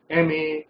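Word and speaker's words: M.A.: तो यहां पर जब हम एम ए बोलेंगे तो इसको मां नहीं बोलते, हम एम ए बोलते हैं।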